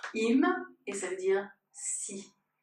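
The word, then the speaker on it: אם: Vous reconnaissez le Aleph, et avec un même, dans le schéma Israël, ça se prononce im, et ça veut dire si.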